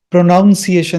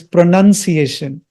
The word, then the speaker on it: pronunciation: It is not pronunciation, it is pronunciation. That's the right pronunciation of that word. Not pronunciation. Pronunciation. I used to pronounce it wrongly. Okay, let me start.